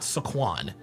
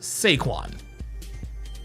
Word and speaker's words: Saquon: His name is not Saquon. His name is Sequin.